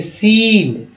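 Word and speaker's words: scene: अब देखिए सी सर्स, उसके बाद देखिए सीन सी साइलेंट हो गया, सीन, साइंस एस सी आई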